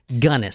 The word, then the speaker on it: Gunness: and from everyone cuz I actually looked up how to pronounce her name and that's what everyone else says her name is so I guess that's it gunnis so was hell's princess